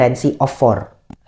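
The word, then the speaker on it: Rency of 4: tulisannya tuh R E N C Y of4. Jadi, bacanya Reni of 4.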